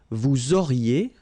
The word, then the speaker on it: auriez: Vous auriez, liaison here, and then EZ will go like E.